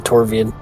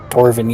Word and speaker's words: Torvin: I'm gonna keep saying it wrong because I keep thinking Torvian. Corbin. Torvin, yeah. That's right.